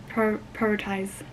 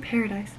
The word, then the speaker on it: prioritize: How do you pronounce prioritize? Okay, I found this on the web for how do you. Not paradise. Prioritize.